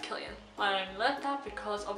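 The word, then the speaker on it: Cillian: and Killian Murphy I thought his name was pronounced zillion Kasese can be pronounced as an S that no it's pronounced Killian I'm left out because of in the debut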